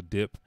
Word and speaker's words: Diop: The story follows professional thief Hassan Diop, and it's D-I-O-P, but it's French, so Dip, the only son of